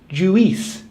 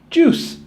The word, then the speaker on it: juice: A lot of people think it's pronounced juice, but actually U-I is pronounced the same as O-O, juice.